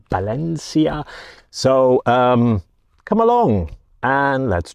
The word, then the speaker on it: Valencia: So today I'm taking myself even to Valencia, and I keep on saying Valencia and the Spanish pronunciation is with a B, so it's Valencia.